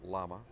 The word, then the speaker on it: LAMA: Dan's the president of the Light Aircraft Manufacturers Association, or LAMA, pronounced LAMA.